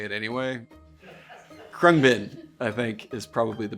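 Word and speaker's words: Khruangbin: Krungbin.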